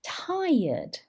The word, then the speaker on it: tired: peeing peeing feeling very tired this r is silent thai ud tired they may be experiencing